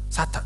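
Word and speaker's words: שָׂטָן: 첫번째 하면 좀 보여주십시오 사탄 이라고 말하는 건 구약의 그냥 히브리어 발음입니다 그 여러분들이 사탄의 라고 말하는 순간 히브리 단어 하나를 외우 신 거에요 사타 그대로 발음하는 것 근데 그런 그 뜻이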